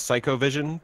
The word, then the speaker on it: Cyco Vision: dealer site I guess psycho vision by it sounds like he's saying psyche go psycho yeah yeah yeah they threw me off cuz it's spelled Cyco vision yeah I didn't realize